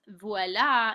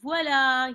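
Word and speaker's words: voilà: this on Quizlet um V is how you say this is VOA is that is um so I always reference the magic when a person when a magician says VOA you know make something appear um so that's how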